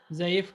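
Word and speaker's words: ضعیف: बोल जे आ ये ई फे ज़ईफ ज़ईफ सही ज़ईफ करके बोलते हैं।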